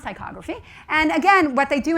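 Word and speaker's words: ptychography: So it's pronounced tychography.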